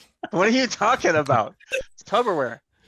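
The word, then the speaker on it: Tupperware: are you talking about tub orware sounds like tub aware like a bathtub you know that you're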